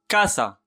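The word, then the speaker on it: casa: أعيد، يمكن أن ننطقه ك إذا جاء بعده A أو U. مثلا كاسا، كاسا منزل، منزل كاسا. كوراثون، كوراثون قلب، كوراثون. كوبو، كوبو، كوبو سطل، كوبو. كما لاحظتم ننطقه في هذه الحالة ك.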